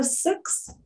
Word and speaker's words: Sikh: And it's targeting not only Muslims, but also Sikhs. That's S-I-K-H. Some of you might pronounce that Sikh.